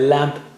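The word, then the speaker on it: لام: Touch the tip of the tongue to the upper gums near the root of the teeth.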